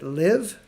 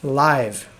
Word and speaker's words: live: sure you know it is it live as i've had here rhymes with give it means to be alive right is there another way you can pronounce it of course there is live so there's live and